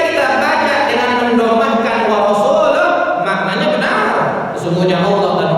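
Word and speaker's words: ورسوله: Atau kesalahan yang berikutnya, ketika kita membaca Annallaha bari'un minal musyrikin wa rasuluh, cuman gara-gara mengganti wa rasuluh menjadi wa rasulih. Akan cuman beda sama itu Pak Ustaz, apa sih bedanya? Bedanya fatal teman. Wa rasuluh dengan wa rasulih cuman beda sama itu kan.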